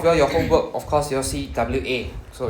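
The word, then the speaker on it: は: The HA is actually pronounced as W in this context only as the particle itself.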